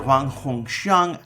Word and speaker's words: Huang Hongxiang: Huang Hongxiang. How badly did I mangle your name? No, your pronunciation is quite good.